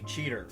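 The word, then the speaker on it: Cheetor: Yeah, is spelled chetor with an O, but in the show they say cheater.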